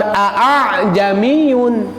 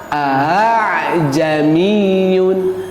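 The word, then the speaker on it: أأعجمي: Jadi bukan dibacanya bukan aa jamiun ya. Jadi dibacana teh sanes kitu sanes a jamiun tapi kumaha a jamiiyun a jamiiyun kituya dimudahkan bu henteu dijentreun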